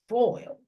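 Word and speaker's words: Foyle: WP over food like f o y l e when it's spelled like that that's a last name but it's foil oh okay I think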